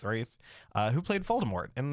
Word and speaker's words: Ralph: pronounce his last name I did figure out wraith it's not Ralph it's wraith uh who played Voldemort